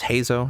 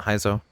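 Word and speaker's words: Heizou: you're fine I guess his name is pronounced Hazel not heizo Hazel uh we didn't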